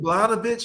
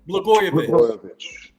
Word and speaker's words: Blagojevich: Blanovich? How do you say his last name? Blagojevich.